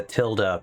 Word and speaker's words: tilde: Well, the internet seems to think that the tilde pronunciation is correct.